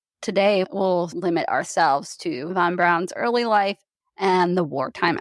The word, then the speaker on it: Braun: according to that book his last name is pronounced Von Brown I swear I'm not